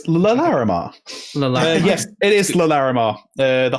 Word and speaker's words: Larimar: I'll give you L'Oreal Lamar, but it's Larimar.